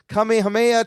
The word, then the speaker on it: Kamehameha: Kamehameha type finish on the dragon.